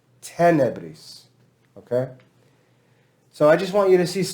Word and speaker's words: tenebris: Whenever you have two consonants like this together, usually that makes the syllable long. It means it makes it long to speak. But when we have te, ne, bris, it would feel like because we have length here, it would be tenebris.